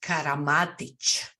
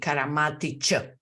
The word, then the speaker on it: Karamatić: of your last name my last name is karamatic karamatic yes there is no K our c is called it's it's a c karamatic it's specific because it's Slavic it's Slavic yes but